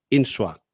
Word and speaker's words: Insua: Y es Insua. ¿Lo he pronunciado buenos bien? días, sí, perfectamente. Sí, perfectamente. Sin la tilde en la U, que es como suelen